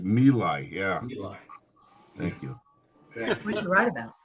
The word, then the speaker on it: My Lai: How about people remembering My Lai, the My Lai massacre? Right. It's pronounced Mila.